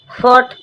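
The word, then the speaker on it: fought: फोर्ट फोर्ट means लड़ा। जी एच T silent है।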